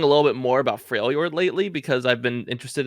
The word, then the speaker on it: Freljord: Freylord? It's Freljord, but Freljord. yeah, it's a J after the L.